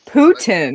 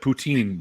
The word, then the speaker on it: poutine: So it's it looks like poutine, but it's actually the Quebecers, they call it poutine.